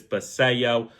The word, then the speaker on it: Basallo: As I was saying Basallo, I realized it's Basallo.